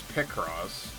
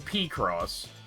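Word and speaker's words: Picross: I heard someone recently pronounce it piecross and it's living rentree in my head because I've never heard anyone say it like that. I've heard pross. I've heard pickross. I've never heard pie cross.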